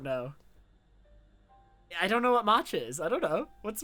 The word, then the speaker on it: matcha: didn't know the word Macha I don't know I've never heard it used did I did I say it right it's matcha tell you bluntly we